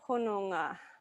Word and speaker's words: Hononga: The thing that I think is hardest in here is that you've got an N and you've got an NG consonant blend. And so you've got to get the N pronounced as an N and the NG consonant blend pronounced as an NG. So the 3 syllables are ho, no, ngā.